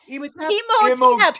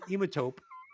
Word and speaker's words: Imhotep: Imhotep. Okay. Tap, not top. Tap.